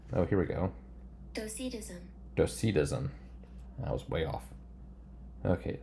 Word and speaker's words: Docetism: It does not tell me how to pronounce this word. I want to say, oh, here we go. Docetism.